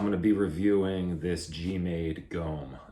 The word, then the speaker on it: GOM: be reviewing this g-maid gome i think i'm pronouncing that right some guys pronounce it gum i think i read somewhere that it is pronounced gom uh i think it means bear in korean um but not really